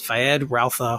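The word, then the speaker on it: Feyd-Rautha: He'll be playing, I always say his name wrong, it's Fayed Rautha Harkonnen.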